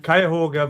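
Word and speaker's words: Cuyahoga: there yeah I never knew that how you pronounce it Valley National in yeah kyoga Valley National Park yeah kyoga county is the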